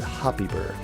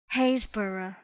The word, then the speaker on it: Happisburgh: puppy / puppy Berg I'm gonna guess a you guys pronounced at happy burger 90% sure I feel bad but let's see how that sounds this is Hansbrough Heys borough way off Hayes burrow that sounds like Hayes burrow like if I had